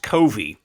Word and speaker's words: Covey: I'm going to pronounce it Covey. I'm not sure if that's the correct pronunciation. It's actually pronounced Covey, okay, according to experts who know these sorts of things.